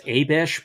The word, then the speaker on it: Abish: Now, I believe according to the pronunciation guide in the Book of Mormon, it's Abish, but the pronunciation guide